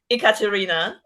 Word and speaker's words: Ekaterina: So my full name, my legal name is Ekaterina. So it's spelled with E, Ekaterina. So a lot of people make fun of me saying, "Oh, is it like e-commerce? Is it like e-business? Ekaterina?" Yeah, I know.